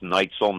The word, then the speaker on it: Neitzel: Right, but it's German, so it's pronounced Neitzel, not Neitzel.